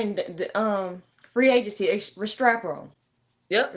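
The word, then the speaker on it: Restrepo: Restrao. Yep. Restrao. Yeah, that's how you pronounce it.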